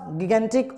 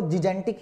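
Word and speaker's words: gigantic: कुछ लोग इसे जिजेंटिक भी बोलते हैं। वैसे सही प्रोनाउंसिएशन अगर आप देखो, जैसे मैंने अभी आपको बोला कि अपने जैसे इंडिया में जो उसकी प्रोनाउंसिएशन चलती है वो गिगेंटिक चलती है, ठीक है? पर इसकी अगर एक्चुअली में प्रोनाउंसिएशन देखें तो वो जिजेंटिक ही है, बिल्कुल सही जो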